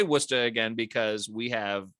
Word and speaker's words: Worcester: is the director of woox Productions with the wora Red Sox known to friends as the woox first of all Tim how' I do pronouncing wora I think you did a lot better than